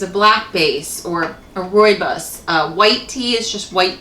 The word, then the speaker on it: rooibos: And then you have a tea called, if I can pronounce this right, rooibos. It's spelled R-O-O-I-B-O-S, rooibos tea.